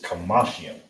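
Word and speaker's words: חמישים: If you know what the number five is, add yum at the end to it.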